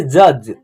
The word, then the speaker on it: जज: Last वाला अक्षर क्या है आपका, ज है, और इस ज का उच्चारण आधा हो जा रहा है। देखिए जज, जज, यानी ज फर्स्ट